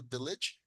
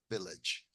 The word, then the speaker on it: village: I grew up in a village with my family. ¿Ok? Entonces noten aquí, la doble L en inglés suena como una L. ¿Ok? La pronunciación, village, village.